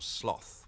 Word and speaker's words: sloth: clo or sloth we use both pronunciations now I really ought to be hanging